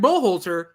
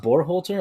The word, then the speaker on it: Berhalter: The genius Greg Berhalter changed 7 changes to an 11-man lineup. So it's pronounced Berhalter? I thought it was Berhalter. Berhalter? I always say Burr.